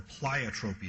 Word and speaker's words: pleiotropy: But there's an even bigger kicker, which is called antagonistic pleiotropy, or pleiotropy is actually the correct way to say it.